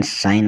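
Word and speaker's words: sign: strength strength मतलब शक्ति एस आई जी एन साइन मतलब हस्ताक्षर डी ई एस आई जी एन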